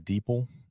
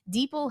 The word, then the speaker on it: DeepL: But the other one that I've been using, I think, is Deeple. For Yeah. Europe, yeah, deep L. I think it's pronounced Deepl, but it's deep DEPL.